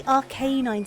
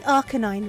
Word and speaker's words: Arcanine: is it okay no I see rk9 sounding Out the a but it's meant to be Arcanine right like a canine I say that that